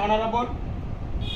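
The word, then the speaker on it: honorable: হ হলে এ, আর এইচের উচ্চারণ যদি অ হয় তাহলে এন হবে, এন অনেস্ট, এন অনারেবল।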